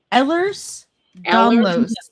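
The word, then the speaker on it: Ehlers-Danlos: I uh I'm like almost mid30s and I have a disease called Ellers's Donlo syndrome. And what is that? How do you say that? Ellers's Dlos syndrome.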